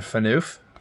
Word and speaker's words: Phaneuf: Dion Phaneuf. I think that's how you pronounce it.